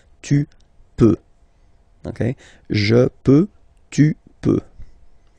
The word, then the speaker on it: peux: Then tu peux, same pronunciation and same spelling or writing, okay. P-E-U-X, okay, don't pronounce the final X. Tu peux, okay.